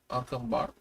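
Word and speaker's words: Acámbaro: Did I say that right? Acambaro? Acambaro? You pronounced it perfectly.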